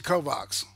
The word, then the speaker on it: Kovacs: Okay, You mean Takashi Kovacs? yeah, Takashi Kovacs or Kovacs is the I think that's the Slavic pronunciation of it. I think it may be Bosnian, or Serbian, something like that.